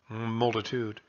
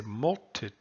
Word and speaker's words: multitude: But we don't say multitude. We say multitude. And so the tude has a little accent on it.